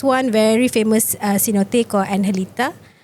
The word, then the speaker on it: Angelita: So they have this one very famous cenote or analita. It's actually spelled as Angelita because so the G is pronounced as a J.